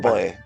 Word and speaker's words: Poe: que depende no porque lo correcto sera decir algo así como Edgar Alan p yo digo Poe yo digo Poe a